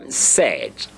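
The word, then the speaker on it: sept: there is silent a don't pronounce the P so pretend as if you don't see the P there and so the pronunciation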